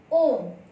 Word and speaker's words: ओम: ओम में ओ जो शब्द है वह है पुलुत स्वर है, क्योंकि ओ का उच्चारण जब हम ओम बोलते हैं तो ओ का उच्चारण दीर्घ समय के लिए होता है, इसलिए हमें उसमें जो